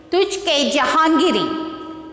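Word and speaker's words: Tuzuk-i-Jahangiri: Tujhke Jahangiri. This autobiography by Jahangir, the king Jahangir. So how to pronounce this?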